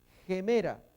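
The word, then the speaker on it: ἡμέρα: Gemera, fijémonos el espíritu rudo mirando a la derecha, lo hace como una pequeña H, como una pequeña J, G. Entonces acá ponemos gemera, podría haber sido una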